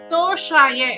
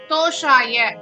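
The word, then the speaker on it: तोषाय: நாம் சில பிழைகளை செய்வோம் சமஸ்கிருத மொழியின் உச்சரிப்பிற்கேற்ற தோஷாய என்பது சந்தோஷம் சந்து போன்றவற்றை குறிக்கும் சந்தோஷம் என்பது அல்ல ஆகவே எம்பெருமானின் தோஷாய மகிழ்ச்சிக்காக என்று உச்சரிக்கப்பட வேண்டும் வெங்கடேச விபஸ் വെങ്കടമുടയാൻ എന്നും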